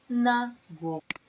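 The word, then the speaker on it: נגור: So here you see it maintains the u sound because it takes after the infinitive. Agur, nagur.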